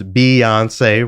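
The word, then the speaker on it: Beyoncé: megan yes okay so first of all it's b i know it's spelled b-e-y but it's beyonce right anyway so let's break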